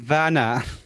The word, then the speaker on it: Werner: It's a Werner Herzog film about Antarctica. No. You got to say it right. It's Werner.